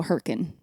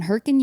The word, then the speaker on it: Hurricane: of another slang word because it's spelled hurricane but if you're from there you go heren and Hur Utah we I was I grew up in herrien Utah and in herin